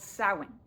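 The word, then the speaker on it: Samhain: to a Celtic festival called sowing, which is spelled like this, but sounds like this.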